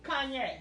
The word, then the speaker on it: Kanye: mess that's going on i'm going to spell his name for my container record c-o-n i'm saying okay and then we're going to do y-a-y for yay kanye so yeah so you can say it right yeah his name will sound right like that but anyway and this